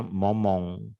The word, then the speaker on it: moment: en ce moment, nah, dia bacanya momong gitu, ya, non je